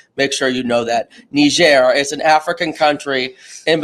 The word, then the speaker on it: Niger: it spelled differently, but it is a soft G, not a hard G. So everyone just make sure you know that. Niger is an African country in between Nigeria and Libya.